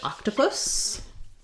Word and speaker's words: octopus: And then we have a request for the word octopus.